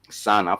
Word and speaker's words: sana: So I'm talking about sana for emphasizing a lot, sana for emphasizing a lot. So this is SANA, 2 syllables, sana, for sana for a lot, sana for a lot, sana for a lot, for a lot.